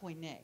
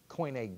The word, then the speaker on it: Koine: Koine, yes. Okay. How do you spell that?